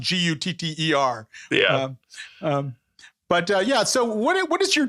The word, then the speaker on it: Qatar: And I like when NPR had tried to get everyone to say it right, and Qatar. Right. Tried to make Qatar. Yeah. They just pronounce it Gutter.